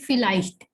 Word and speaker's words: vielleicht: Okay, V, it starts with V, but we know that V has the sound of F, so we'll be calling it vielleicht.